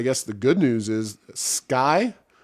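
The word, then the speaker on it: Sceye: the good news is sky i think that's how they pronounce it s-c-e-y-e it is uh essentially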